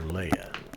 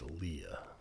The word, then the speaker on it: Leah: Is it Leah or Leia? I think that spelling is pronounced Leah. Leah. Okay, good. That's what I thought.